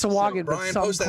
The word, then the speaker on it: Sahuagin: I wanted to make sure I pronounced that correctly. I know Sahagin. Swaggin. Sahuagin? So, Swaggin. Swa. Yeah. It's Sawagan, but Brian, some post that call link it again.